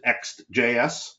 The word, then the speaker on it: Ext JS: is CES Flagship product extjs some people pronounce it xjs and I'll give you